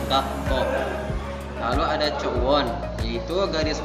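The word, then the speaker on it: 学校: Misalkan gakko. Dibacanya itu di situ ada huruf k menjadi 2, jadi dibacanya gakko.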